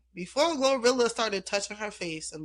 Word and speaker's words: GloRilla: uh Gorilla and uh say it like that Glorilla cuz she was being shady to the I know.